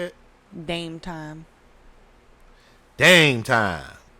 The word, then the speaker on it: Dame Time: Dame Time. Like game time. Yep. But with a D.